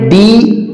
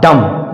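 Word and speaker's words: dumb: उच्चारण क्या होगा लिम आगे है डी य एम बी एम के बाद इसमें भी बी आया है तो इसका भी उच्चारण होगा डम ना कि डं क्योंकि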